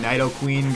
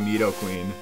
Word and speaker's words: Nidoqueen: corrected my pronunciation because I always called these things Knight o king and night o queen growing up and now I guess I'm just hurted enough times from y'all that I've corrected it to meet O king Nidoqueen but whatever we all